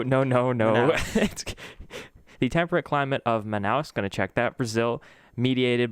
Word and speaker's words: Manaus: bro manaus manaus manaus the emphasis on the first syllable manaus that's literally how i